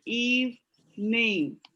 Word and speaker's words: evening: evening although most people are going to say something that sounds more like eve name that's what most people will say it's going to be more like eve me yes evening is the full pronunciation but we're lazy so a lot of people will just say eve mean evening and okay so now